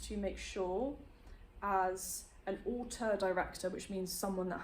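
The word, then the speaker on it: auteur: He wants to make sure as an author director, which means someone that has a specific style, it's I mean it rhymes with water, but it's spelled like that.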